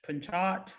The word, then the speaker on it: Pinchot: from um penn coach pinchot i'm thinking that it's pronounced you know with the silent t um university she also